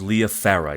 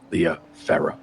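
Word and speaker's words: Liya Farrah: Sophia Ramsay and L Farah Leah it's it's pronounced Leah Farah yeah correct yeah l i y a Farah f a r r a h yeah Leah Farah got it mm yeah okay so those are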